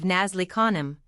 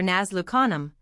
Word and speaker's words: Nazlu Khanum: I once saw some of the ladies of Nazli Khanum, thus vulgarly pronounced for Nazlu Khanum, struck with a kurbaj,